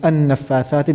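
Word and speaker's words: النفاثات: I'll be saying an-nafathati because I started with it.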